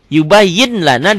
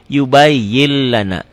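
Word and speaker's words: يُبَيِّنْ لَنَا: tanpa didengungkan tanpa ditahan yubayyin Lana dibacanya jadi yubayyil Lana ditulisnya kan pakai latin yubayin ada n-nya yubayin Lana dibacanya jadi n-nya hilang n-nya hilang n huruf n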